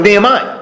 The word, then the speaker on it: Nehemiah: How do you pronounce his name? Nehemiah. Well, Nehemiah.